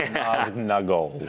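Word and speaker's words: Nazgûl: Yeah, Ben Walker's the master of the pronunciation, but I think it's Naznagal. That's really Yeah, you gotta get which I think that first G in. There's a little G in there. And you can't forget that.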